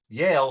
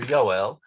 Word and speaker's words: Yoel: Litvaks pronounce Yoel, which is the Hebrew name for Joel. They pronounce the cholon, they pronounce the O sound as an A. So they would say Yale for Yoel, and that was what he was known by.